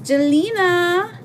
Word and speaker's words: Jelena: Jelena. Rhymes with Selena.